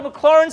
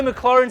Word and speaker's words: Maclaurin: And so no, the T is silent. Yes. So no Maclaurin series. It's French. The T is silent. Sounds a bit German.